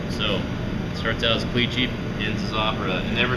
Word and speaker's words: Clichy: So this torte was originally called the Clichy torte, C-L-I-C-H-Y. That was the original maker of it, the original pastry chef. Clichy is how you pronounce it.